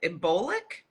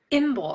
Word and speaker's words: Imbolc: So tell us about how did you pronounce it? Embolic? Imbolc, Imbolc, yeah.